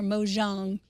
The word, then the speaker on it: Mojang: And um I'm afraid I probably mispronounced Mojang. Is it Mojang or Mojang?